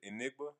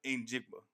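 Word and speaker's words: Njigba: Cooper Cup, the the uh I can't pronounce his last name. Jackson Smith. Jack Smith, Enigma. In Jigba.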